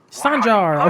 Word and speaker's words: Sanjar: Sanjar! Okay, that's how you pronounce it.